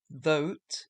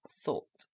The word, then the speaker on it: thought: Thote is wrong, it's thought.